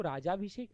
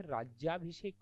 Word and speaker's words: राज्याभिषेक: जाइएगा आपने क्या लिखा देखो राज्याभिषेक नहीं होता यह राज्याभिषेक होता है क्या होता है राज्य